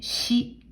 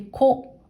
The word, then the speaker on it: 子: 音読みでし、し。訓読みでこ、こ。と呼びます。